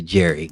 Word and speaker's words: Gerry: or the English to change Gary to Jerry. Yes, sir. They always doing stuff. Yeah. They change it up on you real quick. Soft G.